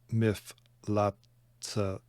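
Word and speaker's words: מפלצתה: Vayichrot asa et miflatzta, should pronounce that final hay there.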